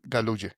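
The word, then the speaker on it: Galouye: El escritor se llama, para que lo recordemos a nuestros oyentes, Daniel Galuye. Se escribe G A L O U Y E.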